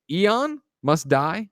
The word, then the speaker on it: Aeon Must Die: Is it Aeon Must Die? Is that how I pronounce that one?